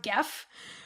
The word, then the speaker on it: Geoff: ALYSSA I'm gonna name it Geoff, spelled Geoff, with a g, but it's pronounced Geff.